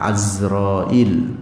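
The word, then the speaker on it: Izrail: malaikat Jibril dan malaikat Izroil bacanya azrail pepatah azroi Leung Hai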